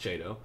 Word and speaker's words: Chiedo: this lovely rendezvous with mr che it's pronounced jado i want to orient our crazy ride around